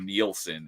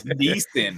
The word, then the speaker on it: Neeson: I thought it was Liam Nielsen until like high school. So I was like, no, it's Neeson.